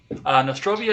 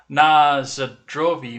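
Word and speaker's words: на здоровье: Nostrovia is the English mispronunciation of the Russian word na zdrovi, meaning cheers.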